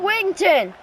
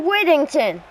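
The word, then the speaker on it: Whittington: Great pass to Noah Wington, if I pronounce that right. Noah Wittington. That's That's how you pronounce that, yes.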